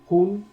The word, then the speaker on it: hun: Tenemos el otro que es en maya hun, o sea, sabemos que como que el maya se pronuncia con una J suave.